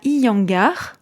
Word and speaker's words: Iyengar: de yoga bien particulier oui c'est le yoga iangar ça s'écrit i y e n G a R